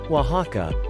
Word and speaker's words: Oaxaca: Oaxaca, pronounced Oaxaca, is both the name of this Mexican state and its capital city.